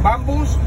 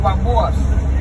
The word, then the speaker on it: bambú: Entonces, dicen bambús o bambúas. Bambú. Bambú. Con acento en la U.